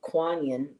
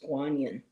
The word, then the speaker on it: Guanyin: And we're used to hearing Kuan but the original pronunciation was Guanyin.